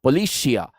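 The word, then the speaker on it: πολιτεία: I know the pronunciation again, if you depending upon which YouTube channel you have opened up, the pronunciation keeps changing. Politeia, politeia, policia. Many a pronunciations are there. We will as of now keep it politeia because that is closer to polity.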